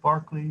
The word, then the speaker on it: Berkeley: just like the school in California, but it's pronounced Berkeley. It must be an Irish thing. So notice he lives about a generation or so after Locke. Berkeley agrees with much of what Locke had to say.